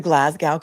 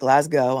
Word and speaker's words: Glasgow: Labada to her credit very politely said um it's the Glasgow coma score and I know that people in Scotland don't pronounce the W and they call it Glasggo.